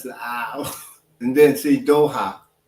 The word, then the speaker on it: Doha: Doho is the capital city of Qatar. Damn. Oh yeah. No, Doha. I know you said it wrong. It's Doha.